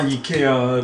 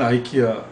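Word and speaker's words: IKEA: 아 이케아를 네. 발음을 아이키아.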